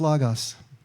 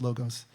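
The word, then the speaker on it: λόγος: In Greek, it's logos, sometimes pronounced logos.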